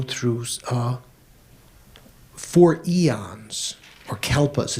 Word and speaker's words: kalpa: uh four eons or kalpas the sanskrit word is kalpa you've heard of that right sounds like some kind of dog food doesn't it for calpos so or